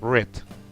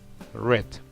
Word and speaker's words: read: con el participio pasado así se escriba exactamente lo mismo se pronuncia red red bueno me alegra muchísimo